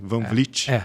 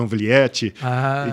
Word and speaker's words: Van Vliet: Eh, o a nossa marca sempre foi o nosso sobrenome, Vanvlit, né? E eu senti um pouco um pouco na questão da pronúncia um pouco difícil, pessoal falava anvliete, então a gente tinha que soletrar sempre.